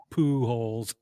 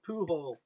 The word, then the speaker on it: Pujols: My daughter would always go, hey, Pujols. She kept chanting it. Poohole. Poohole. Pujols. Yeah. Poohole. Emphasis on the wrong syllable there, kid.